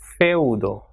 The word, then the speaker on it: feudo: So when E and U comes together, same way, it will be pronounced as feudo.